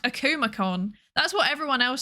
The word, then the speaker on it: Akumakon: Also, I've learned apparently it's pronounced Akumacon. That's what everyone else says. And then there's me like Akamacon.